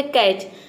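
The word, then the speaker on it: catch: अक्सर next word है कैच कैच में देखिए टी सी एच यहां पे टीसीएच दिया है टी सी एच एक साथ है यहां पे ट का साउंड कहीं नहीं है कैच मतलब होता है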